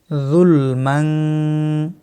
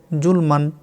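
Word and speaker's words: ظُلْمًا: নুন সাকিনের বামে কাফ ইকফার অক্ষর, এই কারণে এখানে বাংলায় অনুসারের মতো উচ্চারণ হবে, ইকফা করতে হবে। যুলমান। অনেকে বলে জুলমান।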